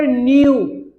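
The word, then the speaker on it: know: our ancestor न्यू, इसको न्यू पढ़ते के साइलेंट होता है, बहुत सारा लड़का ना कन्यू बोलता है, कन्यू, अरे कन्या गुड़िया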